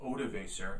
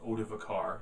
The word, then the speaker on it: Odoacer: because a German chieftain by the name of odoacer or out of a car depending on pronunciation overthrew the Roman Emperor